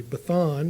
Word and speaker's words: Bashan: A Bathan is how you would pronounce it in Canaanite.